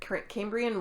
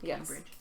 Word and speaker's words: Cambrian: pronounce that first word it's Welsh Cambrian Yar Cambrian wool oh cambri and I said Cambridge that's close enough it's